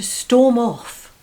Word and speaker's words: storm off: number six to storm off notice the stress is on the preposition off this means to leave